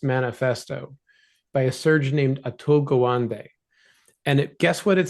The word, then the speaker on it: Atul Gawande: Uh, your clinicians almost all know about a book called the Checklist Manifesto by a surgeon named Atul Gawande.